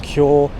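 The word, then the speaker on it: 強: The kanji for strong and the kanji for weak, they're pronounced cure and jaku respectively.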